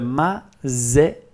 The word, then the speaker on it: Maserati: For instance, the word zoo has exactly the same sound. So Maserati.